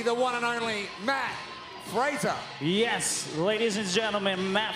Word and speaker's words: Fraser: like joshua no you his name rhymes with laser so it could be the one and only matt frazer yes ladies and gentlemen